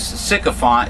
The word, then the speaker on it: sycophant: Well, the reason why I use sycophant is it rhymes with sickening.